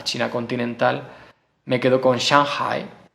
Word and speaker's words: Shanghai: continental me quedo con Shanghai Así es como se pronuncia en chino y bueno es una